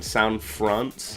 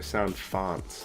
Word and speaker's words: sound font: Everything about the N64, like, for some reason I was calling them sound fronts, and then Dan Mason was like, they're sound fonts, and I'm like, oh shit.